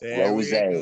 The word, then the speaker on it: RosA: RosA.